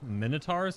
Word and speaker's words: Minotaur: don't hit for anything I did say it right it's a Minotaur oh my God my son look look at it look at its name all right Min like in minute o like in o and t a UR